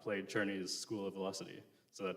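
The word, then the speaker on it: Czerny: Um, so speaking of Churnney, so I'm talking about Carl Churnney, uh, which is spelled Czer Ney.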